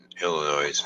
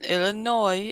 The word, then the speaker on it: Illinois: I told you before the s in Illinois is silent it's not Illinois and there's a